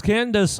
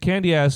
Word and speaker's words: Candace: You know, because Candace I think Candy ass is definitely the most easily guilty in the situation. You're pronouncing it how it's spelled.